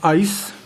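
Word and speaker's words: εἰς: word to word 1519 it's the Greek word pronounced ice the word it's Greek word 15-19 so let's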